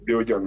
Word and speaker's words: Léo Gane: Donc, ça se prononce comme ça, Léo Gann, c'est ça? Ouais, Léo Gann.